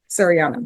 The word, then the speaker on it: Sariana: Serini, how do you pronounce it? Shadiana? Sariana.